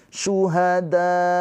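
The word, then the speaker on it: شهداء: Syuhada tuh dikasih penekanan akhirnya. Kenapa? Karena supaya menandakan di situ ada hamzah.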